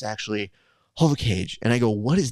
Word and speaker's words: Jovkage: like what the is a j kid and then all of a sudden people are like no it's not what it is it's actually HOV cage and I go what is that and they're